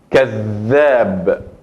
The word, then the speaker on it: كذاب: Entonces la pronuncio con más fuerte y más énfasis a la misma letra. كذاب.